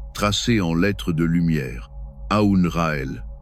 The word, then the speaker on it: Aoun-Ra-El: Aoun-Ra-El. Prononcé Aoun-Ra et El. En laissant vibrer le Aoun dans la poitrine, le Ra dans le plexus solaire et le El au sommet du crâne.